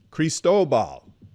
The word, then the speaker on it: Cristobal: Cristobal. I can never do it. Dude, I'm so glad that thing got out of here. I could not get it. It does rhyme with Chernobyl.